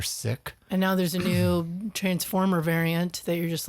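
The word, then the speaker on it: nu: other one is pronounced commonly pronounced new it's also pronounced nigh it depends on who you are but it's pronounced new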